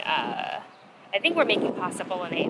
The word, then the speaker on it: bolognese: I've heard people say bologa. They try to say the G. I don't think you're supposed to.